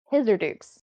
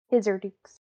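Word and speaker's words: Hisirdoux: damn um hither dukes his or dukes aka dukesy how do you spell that h-i-s-i-r-d-u-x okay his urdu gotcha these are dukes they pronounce the x uh now me as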